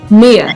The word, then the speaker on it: Mia: You said it's Mia or Leah? Mia. I said it right.